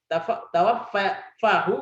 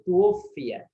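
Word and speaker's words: تُوُفِّيَ: Tawaffahu, gitu ya. Allah mewafatkannya, tapi tidak ada. Makanya bacanya ini bukan tawaffa, tapi tuwfiya.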